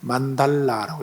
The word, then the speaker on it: 만달라: 그다음에에 이번에 좀 말씀드리고 싶었던 부분이긴 한데 아무튼 만다라고 그러면 만다라도 원래 정확히 만달 발음하려면 L 발음이니까요. 만달라라고 이렇게 해 되죠. R 발음 아니고 L 발음이라서에 만달라 이렇게 발음해야 됩니다.